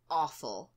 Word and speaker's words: offal: The next one on the list is awful. Awful. And it's spelled Offal.